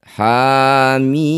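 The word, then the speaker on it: حم: Huruf ha pertama berharakat fathah panjang. Ini disebut bacaan mad thobi'i. Panjangkan dua harakat. Ha mim.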